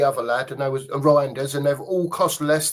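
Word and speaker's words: Reijnders: Cherky, 8 Nori, and is it Reinders or Rahinders, however you pronounce it? Reinders, yeah.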